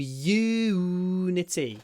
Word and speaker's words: immunity: the Yun immune system vitamins can boost your immunity just when you do pronounce this word just make sure that you get the Y and the what immunity IM imunity immunity immune immune the